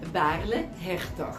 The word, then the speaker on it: Baarle-Hertog: with ल our enclave what is a pronunciation in द the nether how they pronounce इ nether बले नसा okay इ the nether okay and Belgium बले हे बले हे ओके राइ ओके थैंक